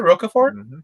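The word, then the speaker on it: Rocafort: is next level anyway is that how you pronounce it roca ford yeah kenneth roquefort yep starfire i remember yes because i've seen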